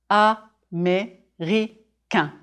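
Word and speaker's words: américain: a man chooses America ah me Rica four syllables America drop your jaw on the final nasal sound if you are woman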